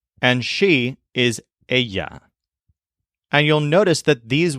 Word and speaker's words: ella: is common in Spanish two L's next to each other make a y sound so what we've learned here is that the word for he is L and she is Aya and you'll notice that